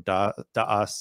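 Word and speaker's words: דעת: of knowledge which is the Hebrew word dot or daas and the Ashkenazi pronunciation and Dot the word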